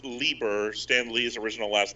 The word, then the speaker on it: Lieber: we're gonna call it quits for now it's pronounced lieber stan lee's original last name oh okay i